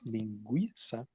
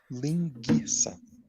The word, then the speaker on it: linguiça: And the problem is, if you read it without the knowledge that it's supposed to be pronounced linguiça, you would probably pronounce it linguiça, because when it's GUI, it's going to make the noise G.